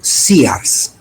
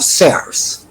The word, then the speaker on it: Sears: En esa esquina anteriormente había un sears, por cierto, no se dice sear, sino sears, pero aquí todo el mundo le decía.